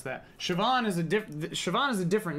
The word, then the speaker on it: Siobhan: For Siobhan, which is the fun new spelling of the gal who's in, what is that?